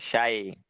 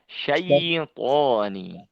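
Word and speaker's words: شيء: juga kurang tepat Ya Sukun itu ketika didahului dengan huruf yang berharakat fathah maka cara membacanya contohnya pada kata ini say Sayi Jadi bukan syair tapi syaiin yang terakhir ya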